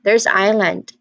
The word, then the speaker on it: island: This one's a bit sneaky because in just in the second that second letter, that s is just completely silent. That hiss there, it's completely silent. You can just really say island as in IEYE, and then land LAN.